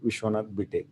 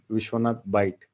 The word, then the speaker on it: Vishwanath: and it's the correctly it is pronounced as dr vishwanath a number of times people mispronounces vishwanath byte and it's not right it's completely wrong in that case what